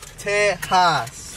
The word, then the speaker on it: Texas: in Texas and teas teas you got to say it right the x is silent teas I lost mine